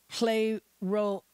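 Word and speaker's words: πληρόω: Jesus is p-l-e-r-o-o and it's pronounced according to the Strong's play role play role finish a period or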